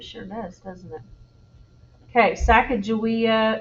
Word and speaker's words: Sacagawea: does doesn't it okay sacagawea is how i say this name there's all different pronunciations of it that i think a lot of people call it sacagawea um so who knows i don't know sacagawea